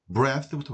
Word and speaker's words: breath: breath부터 보겠습니다.